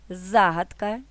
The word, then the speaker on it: загадка: запам'ятати нескладно Отже занотовуємо наголошуємо перший склад у словах загадка вірші випадок подруга разом